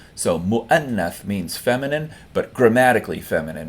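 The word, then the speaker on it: مؤنث: The waw is not pronounced, it's just the kursi or chair for the hamza. So mu'annath means feminine, but grammatically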